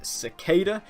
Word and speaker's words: Cicada: TV community and it seems like the official pronunciation of the name is cicada because that's what Todd he'll being said so I'm gonna be calling him cicada from this point on although I think Secada is how I would normally pronounce it I